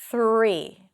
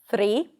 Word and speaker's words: three: So to practice it, hold out the th and hold out the R. It's going to help you. Three. Sometimes your tongue is going to want to touch the upper pallet. Three. That's okay. It's actually pronounced like that sometimes, even in the US. But pull it in for the practice.